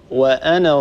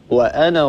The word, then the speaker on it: وأنا: واحدة وأنا ربكم فاعبدون هذا الألف لا يلفظ وأنا ربكم هكذا نقرأها وأنا ربكم لا نقول وأنا ربكم فاعبدون عفوا أختي عفوا